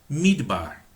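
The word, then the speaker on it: מדבר: Midbar. Midbar. Medaber, midbar. Eu escrevo do mesmo jeito. Só que quando eu pronuncio medaber, significa falar. Quando eu pronuncio midbar, significa deserto. Não tem nada a ver uma coisa com a outra.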